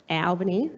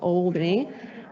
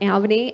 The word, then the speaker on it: Albany: I come from Albany, so it's Albany, not Albany. So that is how it's pronounced, Albany.